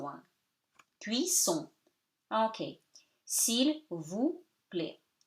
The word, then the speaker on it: cuisson: E is not pronounced, C before the U gives you K, so cuit, double S gives you S, cuit, son, O-N at the end gives you nasal one. Cuisson.